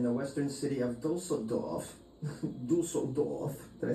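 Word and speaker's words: Düsseldorf: Dusseldorf.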